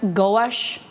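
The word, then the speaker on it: gosht: dog two it's pronounced goash oh you pronounce it back to front goash Asha like ghost goh GH GH or ghost oh ghost oh yeah it's pronounced like ghost oh yeah with the T ghost gosh go no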